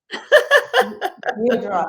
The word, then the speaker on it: Deirdre: Oh, Deirdre. It's like Deidre. dear. You see, I should have asked. Deidre.